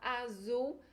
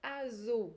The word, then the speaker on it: azul: caso aí da palavra azul como a gente fala em português o z com a pronúncia da América vai ter um som de s tarde essa e forte